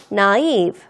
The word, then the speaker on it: naive: naive. 이거 naive를 안 읽어. 이게 불어예요, 여러분. 불어에서 파생된 단어이기 때문에 이렇게 naive라고 읽어줍니다.